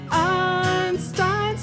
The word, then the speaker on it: Einstein: All I know is Ein rhymes with Stein, and together they make up a man so wise, who died in 1955, but not before receiving the Nobel Nobel Prize.